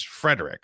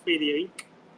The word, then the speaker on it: Frederique: name is Frederick. Like how do you actually pronounce this? Yeah. Well, actually the pronunciation is French and we say fier.